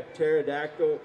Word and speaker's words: pterodactyl: you can't hear a pterodactyl going to the bathroom because the p is silent I am I'm going